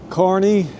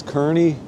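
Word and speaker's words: Kearny: Carney, mostly mispronounced as Kearney, but there you go.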